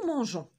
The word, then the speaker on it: mangeons: Pour avoir le son je. Parce qu'enfin, E adoucit la lettre G. Et ça nous permet d'avoir une bonne ou une prononciation parfaite. On doit ajouter un E entre G et O. Et le verbe devient nous mangeons.